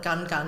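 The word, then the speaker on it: Ngungun: be checking out is Mount Nunu. It's spelled Mount, sounds more like Gun Gun, it's N-G-U-N, N-G-U-N, and in fact the locals call it Gun Gun, or just the Gun.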